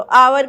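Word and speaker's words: hour: अभी मैंने कहा की हा जो है वह साइलेंट होता है तो अवर का साउंड आता है इसलिए इसमें एन लगेगा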